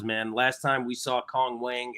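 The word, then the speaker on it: Wang Cong: Last time we saw Cong Wang, a.k.a. Wang Tong, is actually what her name is, but it's spelled that way, which is a little crazy.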